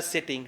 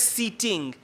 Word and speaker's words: seating: your answer okay so we pronounce it as seating not sitting right yeah question number